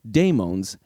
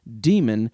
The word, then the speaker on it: daimon: daimons in modern discussions, the latter is generally transliterated into English as d a i m o n, and it often maintains a unique pronunciation. Because I can't rely on spelling to convey meaning in this format of audio podcasting, in order to maintain clarity over the course of this show, I'm going to use the two distinct pronunciations demon and daimon when each is appropriate.